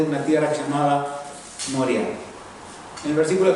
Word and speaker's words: Moriah: Ustedes habrán escuchado ya en otra parte de la Escritura la tierra de Moriah. Termina con H, ¿sí? Por eso se acentúa así y no lleva tilde.